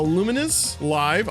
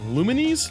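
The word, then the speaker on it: Lumines Live: um it includes uh luminous live I know I'm pronouncing that wrong lumines luminous uh who cares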